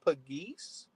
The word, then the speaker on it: Pegues: I think that JJ, I think the correct pronunciation is Pegues.